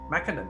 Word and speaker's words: McKinnon: experience and with me today is shelley mckinnon mckinnon right that's how i pronounce it yes that's correct thank you shirley